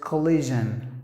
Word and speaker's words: collision: When you pronounce the j, it should vibrate. If it doesn't vibrate, you're not saying it perfectly. So you have to pronounce the word as collision.